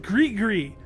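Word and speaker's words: gris-gris: And yes, it's pronounced grig gree.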